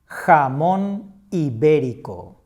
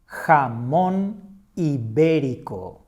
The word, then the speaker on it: jamón ibérico: That is the point that we stress when we make the pronunciation. Now that you know this feature, let's try to read this other word. Jamón ibérico. Jamón ibérico.